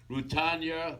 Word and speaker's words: Rutanya: Let me introduce my special co-host and the star Mommy Dearest, Rutanya Alda. Yes. Wow. Yay. Clap. Did I pronounce that correct?